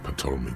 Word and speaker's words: Ptolemy: It's because the Furrows lost that match, said Captain Ptolemy Price, once the man's superior officer. You don't pronounce the It's P.